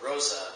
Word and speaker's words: rosea: And the rose hair is Gramostola rosea, or rosa, depending on, I've heard it pronounced a bunch of ways. There's an E in there. I go with rosea.